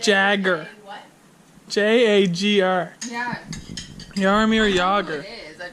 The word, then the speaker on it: Jagr: Jagr. That is not Jogger. how I pronounced it.